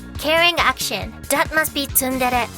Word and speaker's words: tsundere: The expression is tsundere. It is read tsundere. Try to keep the sound short and even.